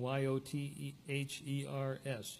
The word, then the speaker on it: Yothers: And also Richard Jothers, who researched and documented the line of one of Hans's grandsons, who took on the spelling Y-O-T-H-E-R-S, Yothers is the way it's pronounced.